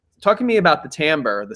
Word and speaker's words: timbre: it looks like it would be timbre. I still don't totally understand why it's not, but timbre. Yeah. Yeah. So tell me about why. Talk to me about the timbre, the sound.